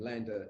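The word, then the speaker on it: Landr: the core business of that is online mastering lander is spelt l-a-n-d-r and uh it means left and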